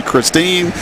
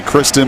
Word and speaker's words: Kristen: You want to call me Christine? It's obviously Kristen, but it sure looks like Christine on paper.